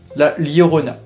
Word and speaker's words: La Llorona: réaliser un premier cocktail donc ça se prononce la lorona donc la lorona c'est